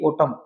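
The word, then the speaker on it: autumn: टम पत जड़ ऋतु याद रखना एम और एन अगर साथ साथ आते हैं तो एन हमेशा साइलेंट रहता है एन का उच्चारण नहीं किया जाता जसे ओटम क्या टम जैसे होता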